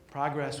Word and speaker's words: progress: Progress was an invention of the 18th century. It was a radical idea. The word was originally pronounced progress, as in progression.